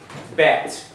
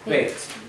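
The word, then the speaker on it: בית: Now you'll hear people say Bet. And a lot of Israelis do. But if you look at the Hebrew spelling, it's more like this, Beit. And that's because the name of this letter is spelled this way.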